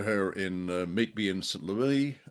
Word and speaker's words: St. Louis: U you know, I remember her in Meet Me in St. Louis. Sorry, got to say it correctly. Meet me in St. Louis, as um the Americans would correctly say, and in Easter Parade.